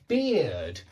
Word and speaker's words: beard: Yeah, but beard has that same sound as here or ear has in it.